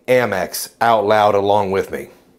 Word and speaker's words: Amex: want you to say MX out loud along with me MX see it's short for American Express am I the only one that cringes a little inside when I hear folks pronouncing it ax like a a American